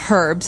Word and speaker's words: herbs: Actually, you can say herbs. It's a very British thing to do, though. Americans and Canadians say herbs. It has an H in the front. That's why it's confusing. Okay, so we can accept basically if somebody says herbs, but I guess in American English it's more commonly pronounced as a silent H.